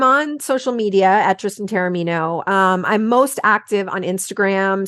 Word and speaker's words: Taormino: It's Taormino. Well, it's Taormino, but Taormino is way closer than a lot of people get. Okay. A lot of people. And then I'm on social media at Tristan Taormino.